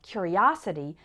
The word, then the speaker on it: curiosity: a curious boy and in the noun form curiosity the third syllable is strong us his curiosity got him into trouble